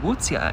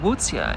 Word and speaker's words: Łutsia: And I said, Wutzia. And she said, one more time. And I said, Wutzia. And she said, spell that for me.